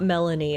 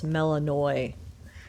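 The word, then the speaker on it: Melinoë: It's not Melanie. It's Melaninoi.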